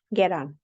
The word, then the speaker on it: get on: bus or a plan so he pronounces the T between two vowels with a softy sound get on the same way Americans and Australians do you first get on